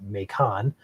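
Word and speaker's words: Macomb: of a rotational signature here to South of makon or mon I'm not sure you guys pronounce it over there in Illinois over here in Michigan we pronounce it makon but also could be pronounced I think bacon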